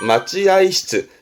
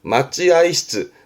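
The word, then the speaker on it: 待合室: 그래서 마찌아이시즈 뜻으로 읽어요. 맞지아이시즈. 맞지아이시즈 발음도 중요합니다.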